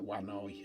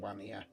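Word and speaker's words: Vanir: They're actually called the Wani, or they can be pronounced Wania. I always pronounced it Wania, but I'm going to start. I like the word Wani. I know that's how the blotter Chris pronounces it.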